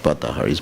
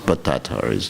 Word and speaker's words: Bhattatharis: group of gypsies called the Bhattaharis, Bhattatharis, not Bhattaharis, Bhattatharis, to pronounce it properly.